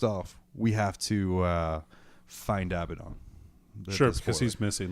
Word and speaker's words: Abaddon: Abaddon is is and I know it's Abaddon now and not a paid on or or any of the other weird pronunciations abadan yeah it's Abaddon yeah yeah well I know